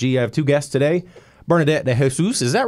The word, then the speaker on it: Bernadette de Jesus: Bernadette de Jesus, is that right? Yes. I pronounced it right.